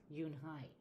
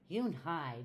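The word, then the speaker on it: Unhei: Yes, it's pronounced Eun-hye. And it means grace, Mr. Kim added. Eun-hye, Joey said slowly, and this time perfectly.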